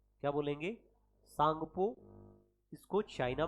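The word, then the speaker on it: Tsangpo: तो सांगपो आपको याद रखना है कि इसको क्या बोलेंगे? सांगपो बोलेंगे।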